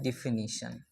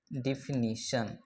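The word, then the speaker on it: definition: तो इसको लोग डिफिनेशन बोलते हैं। ये डिफ डेफिनेशन नहीं होता है सर।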